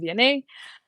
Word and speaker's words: Vianney: But that's how you pronounce my name, Vianney.